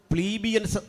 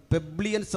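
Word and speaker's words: plebeians: രണ്ടാമത്തെ ആളുകൾ പ്ലീബിയൻസ് എന്നറിയപ്പെടും, പെബ്ലിയൻസ് എന്നും ചില ഉച്ചാരണങ്ങളിൽ കാണുന്നു.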